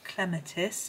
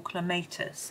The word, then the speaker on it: clematis: This one is a clematis or clematis. People pronounce them in different ways. I don't think there's a right and a wrong as far as I'm aware.